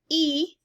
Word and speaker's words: y: and so on plus the letter y which is pronounced e and means and and